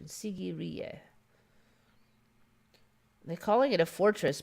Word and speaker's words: Sigiriya: lion rocks and challah sigiriya sigiriya that's the pronunciation sigiriya they're calling it a fortress but i mean